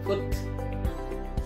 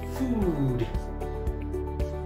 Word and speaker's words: food: Once again, most of us pronounce this as a foot. Foot. But it's supposed to be food. A bit longer.